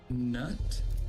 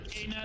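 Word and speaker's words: Knut: Oh, No. Canute. Not nut.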